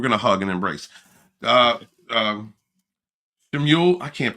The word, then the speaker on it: Shmuel: Shemuel, I can't pronounce. What is that? How do you pronounce that word? Immortal Coil. Is it Shemuel? Shemuel, thank you, Coil.